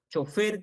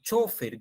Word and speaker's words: chofer: es chofer no chofer chofer que es una palabra aguda y chofer que es una palabra grave que no la pronunciamos mucho acá pero sí la pronuncian en otros lugares de latinoamérica No eso lo podemos